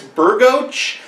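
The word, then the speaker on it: Bergoch: On our way into the theater, we ran into, I think his name is pronounced Chris Burgoch.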